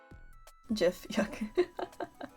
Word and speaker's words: GIF: had a lot of fun with her model jiffy i'm sorry i'm a heathen i learned how to spell things phonetically also that's what the jiff creator said